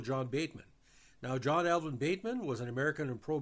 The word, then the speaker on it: Bateman: good player is that his name sounded like Batman it was baitman pronounced but it sounded like